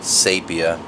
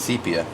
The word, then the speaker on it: sepia: sepia thank you to the commenter who told me i was pronouncing sepia incorrectly appreciate it i was pronouncing it sapia it kind of always will be sapia to me because i've been saying it for so long but it's sepia i looked it up